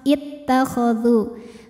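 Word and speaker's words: اتخذوا: Harokatnya ini jadi kasrah ittakhadhu. Kenapa? Karena huruf ketiga setelah hamzah wasalnya adalah huruf dengan harokat fathah.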